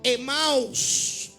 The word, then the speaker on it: Emaús: Emaús es un nombre que se pronuncia Emaús, o también se pronuncia Amatí, y significa caliente.